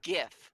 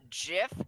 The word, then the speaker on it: GIF: It is GIF with a pronounceable G. Whoever says that it is Jif, you are wrong. I am sorry.